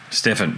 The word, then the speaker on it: Steffen: actually i should ask have i pronounced your first name correctly there is stefan or stefan i apologize if i've got it wrong stefan steffen there you go gosh i'm so used